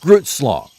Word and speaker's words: Grootslang: So, from here on out, I'm going to use the American pronunciation of Groot, like I am Groot, but as sort of a compromise, I'll pronounce the last syllable correctly. Slong.